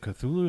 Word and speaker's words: Cthulhu: know i can barely is it cthulhu is how you say it yeah that's how you say that's pretty